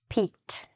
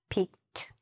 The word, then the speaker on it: peeked: Peek, peeked. It also has a T sound, peeked.